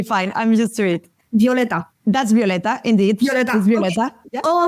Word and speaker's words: Violeta: Elina jmash your host and today's guest is violet y head of customer success at user guest did I pronounce wrong your name I didn't ask it